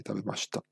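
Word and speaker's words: 食べました: shin, non si sente, adesso io dico tabemashita, però la pronuncia esatta è tabemashita. Città, proprio l'H non si deve sentire, la I si deve sentire, quindi è città, tabe ma città.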